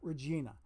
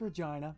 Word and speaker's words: Regina: how I found out that that's Regina and not Regina because I would ask okay what's the way to pronounce that and Murray bless his heart rest his soul would tell me oh it's Regina so okay okay so